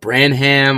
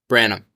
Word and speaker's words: Branam: No, it's some people call it Branham, all sorts of different things. I've always just said Branam. Yeah. So it is Branam.